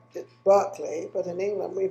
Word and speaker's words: Berkley: He pronounces it Berkley, but in England we pronounce it Berkley.